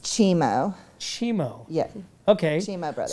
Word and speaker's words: Cimo: it's pronounced Chimo.